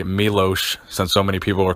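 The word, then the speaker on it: Miloš: me Louis Arsuf I guess I should say Milosz since so many people are correcting me on the pronunciation of his name that was a big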